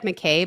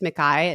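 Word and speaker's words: Mackay: I think it is it looks like McKay but I think it's Makai is how she pronounces it she trains with that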